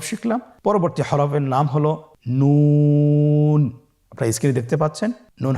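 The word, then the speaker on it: نون: আপনারা স্ক্রিনে দেখতে পাচ্ছেন জিহ্বার আগা তার বরাবর উপরে তালুর সঙ্গে লাগিয়ে উচ্চারিত হয়। আপনারা জিহ্বার আগাটা তার বরাবর উপরে তালুর সঙ্গে লাগিয়ে উচ্চারণ করুন এবং আমার সাথে বলুন নুন।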